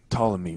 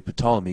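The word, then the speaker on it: Ptolemy: So, I always say sometimes I think to say poley because I'm thinking about how it's spelled in my head, but it's really the p is silent.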